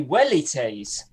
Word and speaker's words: velites: No, it should be wellites.